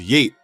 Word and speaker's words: Yeat: The energy dips into uncanny valley and right around the features with yeate pronounced yeet and Julia Wolf floating in the mix.